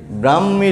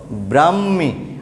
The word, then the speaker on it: ব্রাহ্মী: উত্তর হবে ব্রাহ্মী লিপি। এখানে উচ্চারণ দেখো ব্রাহ্মী, আমরাও বলবো ব্রাহ্মী, কিন্তু এখানে বানানটা দেখো বরফলা আকার হয় ম দীর্ঘিকার, হয় ম দীর্ঘিকার, হ যোগ ম, এই ব্রাহ্মী লিপি, ব্রাহ্মী লিপি।